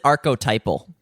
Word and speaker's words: archetypal: We pronounce it archetypal. Yeah, there we go. It doesn't have the archetypal form of immediate feedback in terms of decisions.